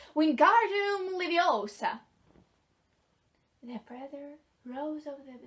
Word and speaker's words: Wingardium Leviosa: Wingardium Leviosa! He shouted, waving his long arms like a windmill. You're saying it wrong, his tongue snapped. It's Wingardium Leviosa. Make the gar nice and long.